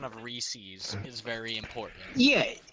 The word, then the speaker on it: Reese's: world like it's pronounced Reese's right box like when you agree and you're yeah that's how you pronounce it apparently up here in New England there's a big argument that people say re-seize welcome Zoom uh you